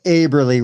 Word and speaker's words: Aberly: Special thanks, Aberly, rhymes with neighborly.